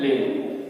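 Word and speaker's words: live: Where do यू, रहना, first form है लिव। देखिए, ये वर्ड है लिव, इसके दो प्रोनाउंसिएशन है, लिव और लाइव।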